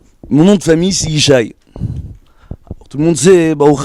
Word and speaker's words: Ishaï: Mon nom de famille c'est Ishaï. Tout le monde sait, Baruch Hashem, que David Ameler, c'est David Ben Ishaï.